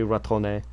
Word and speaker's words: retourné: Yeah, I remembered that you pronounce the E if it's got the thing over it. So yeah, it's je suis retourné.